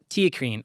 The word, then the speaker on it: theacrine: So it's spelt, by the way, here, it's like one H versus the not Yes. H in there, very, basically. Very similar. Like T, like TEA. Yeah. CRINE. Right. TeaCrine.